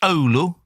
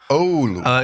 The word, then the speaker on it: Oulu: You did well with the pronunciation. It was pretty good. It's Oulu. Oulu.